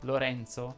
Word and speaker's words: Lorenzo: Vediamo ora le parole che terminano in ENZ più una vocale finale. Anche in questo caso la E va pronunciata aperta. Quindi avremo Enzo, Vincenzo, Lorenzo, Senza, Lenza e così via.